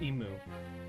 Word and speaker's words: Emu: use it in JPI it's called emu emu which is pronounced the same way as the big birds.